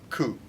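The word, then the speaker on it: 九: Ku.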